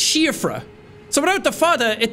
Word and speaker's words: Siofra: in this place and I kept calling it Siofra River. And somebody was like, Jack, taking pride in Ireland and then pronouncing Siofra wrong.